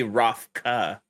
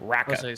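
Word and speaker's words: Raka: Like just the way they spell it is Rocca. R-A-K-A. Oh, it is. Okay. Yeah, Rocca. So Rocca.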